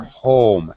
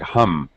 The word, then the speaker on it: home: it again that's better home it's the o sound when you said it the first time it sounded like hum it's a much more uh pronounced much more tense vowel sound home okay better all